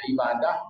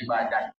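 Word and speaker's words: عبادة: yang dimaksud dengan ibadah ibadah atau ibadat tulisannya sama Ain ba Alif Dal ta bulan kalau cara orang Arab bacanya ibadah kalau cara orang Iran bacanya ibadat artinya F Ma rallahu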